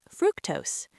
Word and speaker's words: fructose: Next, fructose. We pronounce it fructose with a short sound, similar to the word truck.